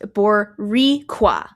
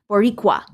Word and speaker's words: Boricua: Boricua 10 addendum pronounced Boriqua. I'm so sorry. Boricqua. Roll the R. Boricqua. Roll the R a teensy bit.